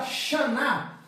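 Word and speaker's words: שָׁנָה: aqui eu tenho ó o Shin que é o nosso sh aqui eu tenho a vogal longa da Classe A aqui eu tenho o nun aqui eu tenho o a longo de novo e aqui eu tenho o h que que tá escrito aqui ó B bana a palavra Xan quer dizer ano ano tá então a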